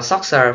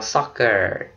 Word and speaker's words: soccer: Đọc là Soxer phải không? CD đọc là S. Không phải. Chữ này là một ngoại lệ. Okay, mình đọc là soccer. Soccer, âm ốc.